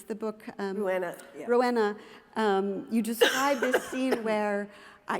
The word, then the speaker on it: Rouenna: it was in Rouenna, forgive me, I don't pronounce the book. Rouenna, yeah. Rouenna, you describe this scene where, I'm sitting, it's